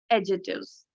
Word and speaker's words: adjective: So ये सारे जो haunted, old, transparent, green, these all are adjectives. And student, this is not adjective. इसे हम कैसे बोलेंगे? Adjective. Fine. The D is silent here.